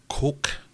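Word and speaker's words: kok: Colloquially known as his coke, I think is how you properly pronounce it. So it's K-O-K.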